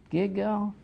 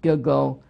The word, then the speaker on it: Gilgal: Gilgal, Rephaim.